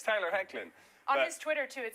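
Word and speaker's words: Hoechlin: we had this didn't we I called him hlin on Monday because hey when you look at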